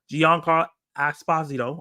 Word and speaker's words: Giancarlo Esposito: We got Adam Driver, Giancarlo Esposito.